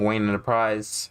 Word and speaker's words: WaynexEnterprise: This is your king, WaynexEnterprise, the X is silent.